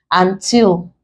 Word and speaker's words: until: Until, prefix, we stress till.